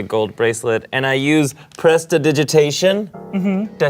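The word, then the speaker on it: prestidigitation: not having the gold bracelet and I use Pressa digitation mhm did I say it right yes you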